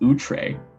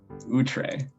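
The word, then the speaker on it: outré: it just means unusual and startling oh it's pronounced utre so i've been pronouncing it wrong utre okay that's that's a good thing to know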